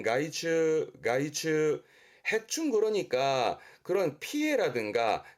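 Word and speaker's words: 害虫: 발음은 가이츠, 가이츠.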